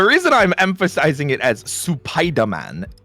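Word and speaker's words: スパイダーマン: Supaida. So you actually emphasize the Su.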